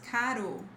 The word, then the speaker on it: caro: This rule, so between vowels, this is pronounced as caro, caro. Ro, ra, re, ri, ro, ro. Between vowels is always this r sound.